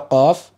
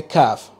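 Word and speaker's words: قاف: Qaf. Good. Don't say kaf. Don't pronounce the qaf like the Mandinkas. My tribe, they can't pronounce the qaf.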